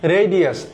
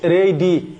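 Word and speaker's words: radii: ব্যাসার্দ রেডিয়াস। রেডি এর pronunciation কিন্তু রেডি নট রেডি।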